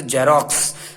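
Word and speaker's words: Xerox: देखें एग्जाम्पल में, जैसे जेरोक्स, इसका उच्चारण जैसे होगा, जहाज वाले से, जेरोक्स, जेरोक्स, ईडी लग गया और आईएनजी लगा के फोर्थ फॉर्म बना ली गई है।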